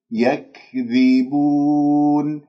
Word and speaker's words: يكذبون: إذن انتبهوا، يك يكذبون، يكذبون، كسر الذال جيدا، ثم بعد ذلك هذه الواو لا تخرج غنة معها، تقول بود بود بود، ضم الشفاه إلى الأمام، ضع رأس اللسان في المنطقة اللحمية أسفل الثنايا السفلى، أرفع أقصى اللسان قليلا، ثم بعد ذلك هذه النون نقف المد العرضي للسكون حركتين أو أربعة أو ستة، والنون أسمعها يكذبون، هكذا بارك الله فيكم.